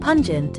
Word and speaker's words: pungent: it may hurt them pungent pun plus gent pun rhymes with non and gent rhymes with gentle it means not gentle